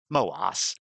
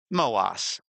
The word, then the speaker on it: MOASS: Same thing with this MOAS, or as this data zero data clown says, MOAS. MOAS. It's the highfalutin pronunciation, MOAS. The long O sound.